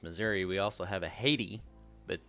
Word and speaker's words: Haiti: we also have a Haiti but there it is pronounced hati so hard for me